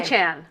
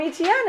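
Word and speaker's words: Achane: Achan.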